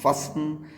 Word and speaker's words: fasten: है, जैसे कि OFTEN ऑफन, LISTEN लिसन, FASTEN फसन, SOFTEN सॉफन। T silent हुआ करता है लेटर सी से, सी